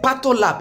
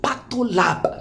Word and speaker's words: PathoLab: being done potluck uh is it pattolap yes it's the name is patola patting i wasn't pronouncing it well so i've got it right thank you very much so pato lab medical laboratory pato love